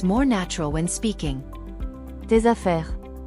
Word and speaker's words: tes affaires: So your pronunciation sounds more natural when speaking. Tes affaires. Tes affaires.